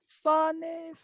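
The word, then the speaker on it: Slán: Slaniv.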